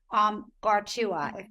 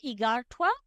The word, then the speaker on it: Igartua: Ari, tell us So, about the significance of the cover by artist Gartua. I hope I'm pronouncing oh, that right. yeah. Yeah. Yeah. It's Igartua, and Thank you.